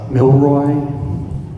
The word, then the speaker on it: Mylroie: who don't know it the phonetics pronunciation my name is milroy okay all right so